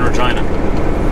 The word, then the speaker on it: Regina: me funny when i say i'm i'm in regina i don't know why they look at you